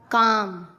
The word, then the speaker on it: calm: एम से पहले CALM काम, बाम, पाम। एल साइलेंट होता है, क्लाम नहीं, काम, बाम, पाम।